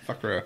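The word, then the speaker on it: Fuqra: State Department describes FUCRA, aka the Jamaat ul Fakra, which Fakra. Fakra, that's good.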